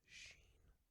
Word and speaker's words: shin: The famous split-fingered Vulcan salute is actually intended to represent the first letter, shin, pronounced sheen, of the word shalom.